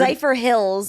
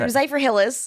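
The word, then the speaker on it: Zephyrhills: Zypher Hills. Zypher Hills. But he said Zypher Hillis.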